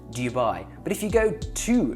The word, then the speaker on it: Dubai: It's Dubai. It's Dubai. Nobody who lives in Dubai is going to call it Dubai. Can you even hear the difference? Dubai, Dubai, Dubai, Dubai. Like daddy. You wouldn't say jaddy.